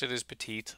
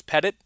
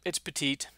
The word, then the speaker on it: Petite: petite tight end USC yes it is petite I looked it up that's how you say it I was hoping it was Pettit it's not it's petite it's horrible sorry very